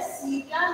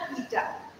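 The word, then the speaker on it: chaetae: भी सवाल आता है, ये है सीटा या कीटा, सीटी या कीटी जैसे भी आप प्रोनाउंस करिए, ये स्किन के अंदर एम्बेडेड होते हैं, ठीक है।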